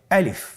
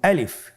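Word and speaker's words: ألف: তাহলে এটাকে কি বলে আলিফ আমাদেরকে বলতে হবে বলুন আলিফ আলিফে কিন্তু কোন টান নেই আপনারা বুঝতে পারতেছেন আমি যখন আলিফ বলছি এর মধ্যে কোন টান হবে না। আলিফ আবার বলুন আলিফ।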